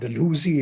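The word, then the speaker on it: Dalhousie: Indian State the Punjab were absorbed by Lord dehousy Lord deusi if you would like to use the pronunce that pronunciation Lord dehousy is often Remembered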